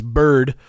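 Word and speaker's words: Berd: And then one of the students is the son of the teacher, and his name is Bird, but it's spelled B-E-R-D, and they all wear little like soldier hats, like from like little nutcracker soldiers from Christmas time.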